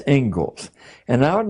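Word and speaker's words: Inglis: the Ingalls Ledger looks like English but it's pronounced Ingles and I would like to read you the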